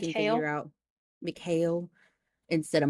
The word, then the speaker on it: Mikhail: out Mikhail instead of Michael.